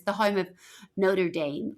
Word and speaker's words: Notre Dame: Is Notre Dame like Notre Dame? Correct. It's just how you say it in American.